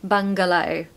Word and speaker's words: bungalow: It's a true G in the middle, so you can really make that G sound, so bungalow.